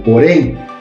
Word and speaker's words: porém: Falo porém. Então, porém é a sílaba forte. E eu não falo família, nem familia. Então, a sílaba forte também é o mi.